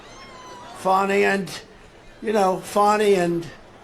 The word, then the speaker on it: Fani: love it's spelled Fanny it's spelled Fanny like your ass right Fanny but when she became da she decided to add a little French a little fancy fny fonny and you know fonny